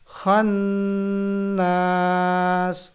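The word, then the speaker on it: الْخَنَّاسِ: না এটা এভাবে পড়বেন খান্নাস এখানেও গুন্নাহ করবো খান্নাস মিম নুন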